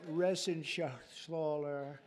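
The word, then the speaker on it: Reschenthaler: You know that Resenshathaler. That's actually the way you pronounce it, you know. Nobody else gets it right.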